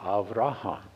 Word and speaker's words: Avraham: But he changed it to Avraham. He added that extra syllable in the middle, which is an intensifier.